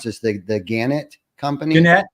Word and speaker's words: Gannett: it was born and I'm probably going to pronounce this the Gannett company.